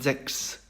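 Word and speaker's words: sechs: CHS가 붙어서 크스 발음을 냅니다. 예를 들면은 잭스 같은 경우인데요.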